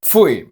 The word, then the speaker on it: pfui: Kind of similar to how you pronounce gooey or fluid, this diphthong is only used in a handful of words. It appears in a few interjections like pfui or ui, and in the words ruhig and Weigurer.